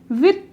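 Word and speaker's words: huit: 7 is known as Seth, इसकी spelling होती है सेप्थ, इसको कहते हैं सेथ, ठीक है। 8 इज नोन एज विथ, इसको कहते हैं विथ, कुछ लोग इसे विद भी कहते हैं, जो कि मतलब सही है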